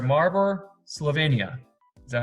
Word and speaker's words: Maribor: I have a special guest today who is from Maribor, I'm saying this right, Maribor, Slovenia.